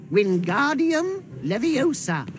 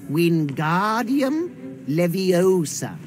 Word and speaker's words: Wingardium Leviosa: Wingardium Leviosa. Pay attention to your pronunciation. It's Wingardium Leviosa. Remember, make the ga nice and long.